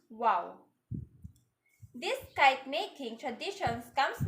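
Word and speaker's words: و: wings are similar to an arabic letter pronounced wow this kite making traditions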